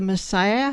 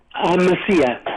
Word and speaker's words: Mesilla: Well, thank you for sharing is it the Messiah? How do you say that? Mesilla.